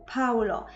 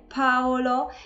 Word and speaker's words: Paolo: trochę z innej kategorii mamy Paolo który często jest wymagany jakby tam było u Paulo natomiast mamy tam o okrąglutkie Paulo i nawet jeżeli szybko wymawiamy to imię to jednak gdzieś tam musimy się zaokrąglić i ostatnie imię to